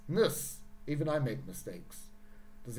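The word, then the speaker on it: -ness: like politician what about ness going down here not nes niss even i make mistakes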